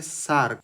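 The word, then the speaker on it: Src: Domain S आरसी इसका pronunciation होता है सार्क।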